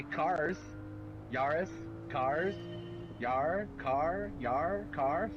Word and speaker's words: Yaris: right no it's different you gotta pronounce the a yaris so do i call